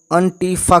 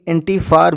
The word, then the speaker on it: Antifa: ब्रे के अनुसार इसके कई अलग अलग उच्चारण हैं। संयुक्त राज्य अमेरिका में ज़्यादातर लोग एंटीफा कहते हैं। यूरोप में इसे कभी कभी एंटीफार भी कहा जाता है, जिसके बारे में